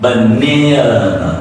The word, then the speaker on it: banana: All right, when you see there is an A in, so you pronounce it like banana. All right, banana, banana. All right, sound like banana. So the first A is reduced and the last A is reduced.